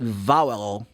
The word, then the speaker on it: vowel: the vow sound e cuidado com a pronúncia das palavra que às vezes tem que fala valavra que tem v o w que significa promessa, né? Você vai lá num casamento, o cara take a vow like this. But in English you say vowel.